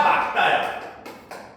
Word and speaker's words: 맑다: 야 호수가 맑다야 막다야. 호수가 매우 맑다야 막다야. 어? 막다야 막다. 근데 우리가 일상생활에서 누가 자기야 호수가 매우 막다. 되게 어색하지. 근데 그게 맞는 거야. 그거는 봐봐. 그게 논리적 타당성이냐? 야 발음할 때 맑다보다 막다가 훨씬 편하잖아.